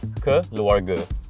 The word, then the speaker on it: Keluarga: Oh, Keluarga? Okay, close. Keluarga.